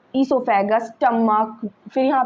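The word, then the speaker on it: oesophagus: जैसे कि इसमें ओ साइलेंट होता है। ओ इज साइलेंट। इसको बोलते हैं हम इससोफेगस।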